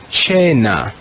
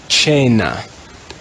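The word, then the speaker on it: cena: church latin we would read this word as chaina chaina in classical latin it would be kena in church latin it's chennai here's another word with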